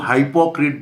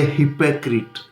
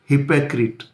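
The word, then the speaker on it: hypocrite: कुछ लोग इसको हिपोक्रीट बोलते हैं, कुछ लोग हाइपोक्रीट बोलते हैं, कुछ हिपोक्राइट बोल देते हैं। सीधा ये हिपोक्रीट, हिपोक्रीट।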